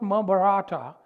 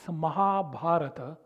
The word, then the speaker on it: Mahabharata: not Ramana it's ramayana it's not maata it's Mahabharata and it's not Shanti